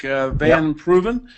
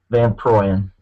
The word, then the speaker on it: Van Proyen: Van Proven from Grace Baptist. Well, how do I pronounce it? Van Proyen. Proyen, I'm sorry, from Grace Baptist in Tyrone.